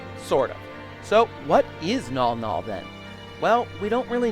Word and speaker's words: Mnggal-Mnggal: I had a bit of a struggle trying to figure out how to pronounce it. Mnggal-Mnggal? Mnggal-Mnggal? The prevailing pronunciation seems to be Mnggal-Mnggal though, so I'll stick with that.